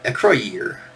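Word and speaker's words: Acroyear: right there is a so Acro year yeah Acro year and that's how you pronounced it um my favorite figure they had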